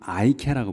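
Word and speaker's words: IKEA: 그 광명시에 들어와 있다고 제가 들었는데 이거를 그래서 여기는 이케아라고 부르지만 그 영어권에서는 아이케아라고 불러요. 아이라고 해.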